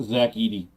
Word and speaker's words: Zach Edey: Wikipedia is telling me it's pronounced Zach Edey.